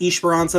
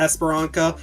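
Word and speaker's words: Esperança: That's why it's Esperanza, not Esperanca, or it's Eichenwalde, not Eichenwald. There you go.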